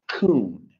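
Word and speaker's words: כון: The original Hebrew, that word order in the original Hebrew is a word that's spelled K-O-O-N. It's pronounced coon.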